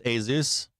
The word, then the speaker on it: ASUS: I think it's ASUS. A Asus. ASUS. That's what how it's pronounced.